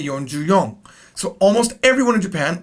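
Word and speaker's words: 四十四: Yonju-yon. Now, you could say yonju-shi, but it's weird. It's really weird. For this reason, most people say yonju-yon. Because you cannot say shiju, you have to say yonju.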